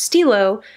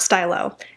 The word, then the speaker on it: Stylo: with their lip things that is pronounced Stilo not Stylo and if that is